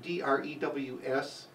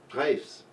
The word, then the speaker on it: Drews: Now, although it's spelled D-R-E-W-S, it's not pronounced Drews, it's pronounced Dres, just so you know.